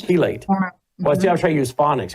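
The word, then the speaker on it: chelate: It's chilate.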